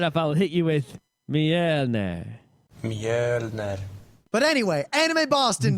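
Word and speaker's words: Mjölnir: is that we now know how to correctly pronounce Mjolnir. Mjolnir. And the way you spell it is MJ with 2 dots LNIR.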